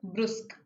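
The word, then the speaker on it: brusque: Used to give me the most appropriate antonym of the given word brusk. This is how we pronounce this word brusk.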